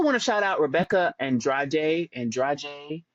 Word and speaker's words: Andrade: I also want to shout out Rebecca Andrade. I think that's how they say it in Brazil, but it's spelled like Andrade, whatever.